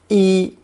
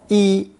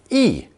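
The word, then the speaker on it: 衣: at the front the basic character for clothing pronounced first tone e e as a noun and rarely a fourth tone e e as a verb to clothe this tone change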